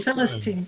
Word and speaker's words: Philistine: Did I pronounce it right? Philistine. Oh, you pronounced it right.